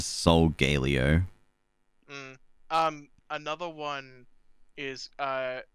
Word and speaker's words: Solgaleo: um oh no uh so i think it's sogalia right because like yeah but i it's just galio isn't it yeah solgaleo or i hit soul galeo i saw someone like do a pronunciation breakdown of how they said pokemon names and that's how they uh pronounce the soul galeo um another one is